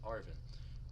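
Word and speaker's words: Arven: On the Path of Legends, you can join, I believe that's pronounced Arvin, in search of rare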